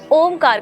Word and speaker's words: ओम: इस प्रकार से उच्चारण कर सकते हैं ओम के उच्चारण को भी आप अगर विधि पूर्वक करना